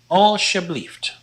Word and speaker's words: alsjeblieft: This word is pronounced alsjeblieft.